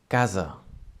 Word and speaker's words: casa: Then the Z sound of the S, it happens when we have one S between two vowels. For example, like in casa. Casa is spelled C-A-S-A, C-A-S-A,